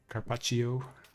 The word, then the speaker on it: carpaccio: I might use up my charges and then I'll eat some carpaccio. Yeah, that's the right pronunciation.